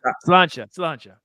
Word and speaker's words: Sláinte: Oh, Solange. How do you say it again? Sláinte.